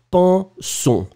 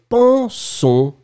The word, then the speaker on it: pensons: I could hear a little N. And nasal, remember, in the nose and no N at all. Pan, pan, pan, pan, pan, pensons. Nous ne pensons pas.